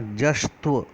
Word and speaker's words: जश्त्व: वेद है जस्त संधि इसको आप हम लोग कई बार गलत उच्चारण करते हैं बेशक तो बोल देते हैं लेकिन देखिए आप और जो है और उसके बाद हम लेते हैं आधार शाह फिर आधा त और फिर वह इस का शुद्ध उच्चारण होगा जस्ट तू जस्ट तो